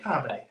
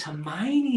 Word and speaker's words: Hermione: Harmony. And then the film comes out, and you're like, oh, it's Hermione, is it?